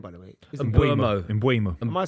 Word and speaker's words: Mbeumo: You've got obviously a brand new forward, Mbeumo, coming in, £70 million. And then, of course, Rashford leaving for Barcelona on loan. Yeah, I mean, look, I always felt the Brian Mbeumo deal would get done.